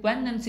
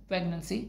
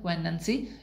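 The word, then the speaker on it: poignancy: एंड पोइनेंसी, ये पोइनेंसी इसकी pronunciation है, प्रेगनेंसी नहीं है, पोइनेंसी।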